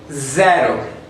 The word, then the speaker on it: zero: So we say zero, zero. This letter is called E, so we pronounce it like in an open mouth.